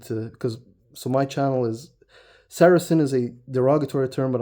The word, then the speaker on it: Saracen: Saracen is how you mention it, how you pronounce it. Some people find some difficulty not knowing how. It's Saracen.